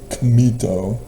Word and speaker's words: Kemet: It's Kemet from the Egyptian, which is still Hamido. It's Kamito, technically phonetically pronounced.